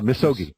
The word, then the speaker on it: misogi: to expound on the misogi purification did I pronounce that right yeah misogi misogi would you care to comment on that